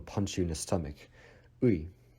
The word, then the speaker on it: ы: Next one we have ui. Ui. So ui is not common in any other languages around the world. You can imagine this as a pronunciation from ear to e.